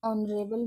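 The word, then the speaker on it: honorable: Example ले लेते हैं एन ऑनरेबल मैन। ऑनरेबल मैन है तो ऑनरेबल मैन में जो एच है वो साइलेंट है और जो बाद का लेटर ओ है उसमें वोवल्स की आवाज़ आ रही है, साउंड्स आ रही है।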